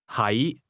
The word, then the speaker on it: 喺: 係 The difference is that to be is pronounced with a low, level tone, and to be located is pronounced with a mid-rising tone.